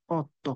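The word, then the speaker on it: otto: এই যে আট, আটকে অনেকেই আমি দেখছি উচ্চারণ করে এরকম অত্ত। না, উত্ত হবে না, এটা কি? অত্ত, অত্ত। কারণ ওর উচ্চারণ আমরা শিখছিলাম অ, তার মানে আমাকে সেই অভাবে বলতে হবে, অত্ত।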